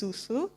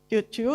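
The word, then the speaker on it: cucu: Okay, so a lola or nenek might involve their apu or, how do you pronounce this? Susu? Chuchu? Chuchu, okay, very cute.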